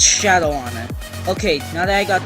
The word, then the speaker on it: Shadowon: and in case you didn't know how to pronounce the one world it's Shadow honor okay now that I got that out of